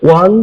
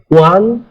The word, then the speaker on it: one: সাউন্ডের আগে যেখানে ও আছে এবং ও এর উচ্চারণ ওয়ার মত হয় যেমন এ ওয়ান stop service ওয়ান stop service দেখো এখানে ও আছে কিন্তু উচ্চারণ